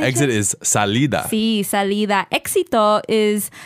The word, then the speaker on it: éxito: Okay, it's E-X-I-T-O. Éxito. Éxito. So it sounds and looks exactly like the word exit.